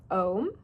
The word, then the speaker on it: Om: For anybody who knows the sanctity of and or knows Om is really a 3-syllable word.